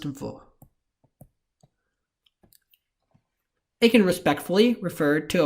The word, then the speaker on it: वह: You also need context in spoken Hindi to determine whether this pronoun, or the pronoun spelled vaha, is being used, because both of them are pronounced as vo.